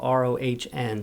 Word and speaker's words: Rohn: love in Jim Rohn, his last name is spelled R-O-H-N. So if you're looking for that, don't look for Rome, look for Rohn, R-O-H-N.